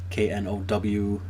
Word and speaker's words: Knowhere: It's called Knowhere, spelled with a K, Knowhere.